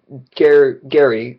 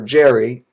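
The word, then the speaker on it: Gerry: You skip to Gary, or Jerry, spelled with a G, that's why it's kind of confusing, and his kids.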